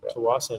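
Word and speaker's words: Tsawwassen: Tawasin, is that how you pronounce it? I'm sorry. Yeah, Tawasin, yeah.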